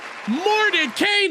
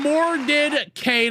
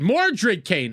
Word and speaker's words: Morid Kane: By the way, Mort Kane, actually, I did that wrong. I did that wrong. $10 and up, you get this. Added applause. Thank you for that $10, Morid Kane. I probably butchered your name. More Morid. Morid Kane. I got it. I got it eventually.